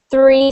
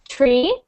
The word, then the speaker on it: three: common mistake um Julet to have three sound like tree but the difference is watch my tongue when I say tree tree is not the same as three my tongue is actually